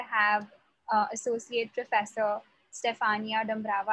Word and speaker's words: Dumbrava: uh associate professor stefania dambrava i hope i'm pronouncing your surname correctly is that the pronunciation yes it's a romanian name